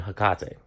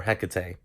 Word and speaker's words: Hecate: So I'm sure that there are books out there on Hecate, or Hecate, however you want to pronounce her name.